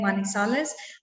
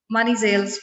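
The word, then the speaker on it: Manizales: कोलंबिया का एक बहुत प्यारा सा शहर है मानीसालेस। बेसिकली इंग्लिश में इसको जब मैंने पढ़ा था तो वो मानीजेल्स पढ़ा था, लेकिन इनके प्रोनाउंसिएशन चेंज है तो ये मानीसालेस पढ़ते हैं इसको।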